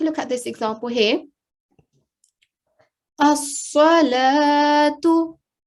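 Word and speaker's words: الصلاة: That letter, blank vowel, will not be pronounced at all. So let's take a look at this example here. As-salatu. As-salatu.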